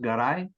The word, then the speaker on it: Garay: in that my grandfather my last name is pronounced gai G okay Bas name